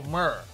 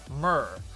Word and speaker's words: mirror: Distant Cloud said, it's a homonym, Rip, it's the same pronunciation. That's what I've heard. Mer. It's a mer match. See, watch my mouth doesn't move. It's a mer. Mer match. It's a mirror. See, if I move my mouth, mirror. Mirror. Then becomes two syllables.